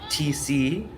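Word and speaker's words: Thiesse: is telling me that Cory's last name t is actually pronounced TC so please let me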